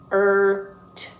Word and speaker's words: hurt: Now you do not pronounce the U. Hurt. Never pronounce the U. It's not hurt. It's hurt. Hurt, hurt, hurt.